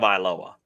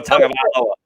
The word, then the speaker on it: Tagovailoa: Lock, Phillip Rivers, Teddy Bridgewater, Sam Darnold, Tua Tagovailoa. I mean, she's got a lot of options there. Nick Foles, I think there's a lot of great, end of It's tongue of Iloa.